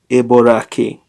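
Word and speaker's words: Eboraci: okay this is uh the CI is pronounced like a k i the girl lives in New York habit habitat Norway Ebola Key habited here we see that York is said aboraki uh whereas in other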